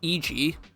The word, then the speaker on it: Eg: Well, it took us like 3 hours, but now I know his name is pronounced Eg.